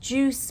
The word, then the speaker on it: Jus: juice it's an acronym it's abbreviated j-u-s but meant to be pronounced juice much like we refer